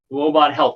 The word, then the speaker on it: Woebot Health: clinical officer of let me see if i pronounce this right robot health is that right athena you got it that's correct robot health which is a pioneer in the development of